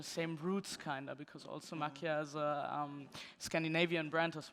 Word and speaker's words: Makia: So we did acknowledge and followed the collaboration of Tretorn and Makia. Am I saying it right? It's Makia, right? Yeah. Yeah. Yeah, you say it like this, right? Yeah, I say it the same.